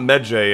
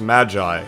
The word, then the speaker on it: Medjay: Cocter told us that it's not Medjay, it's Magi, is how it's pronounced. Even though it's spelled M-E-D-J-A-Y, it's Magi. So, my bad.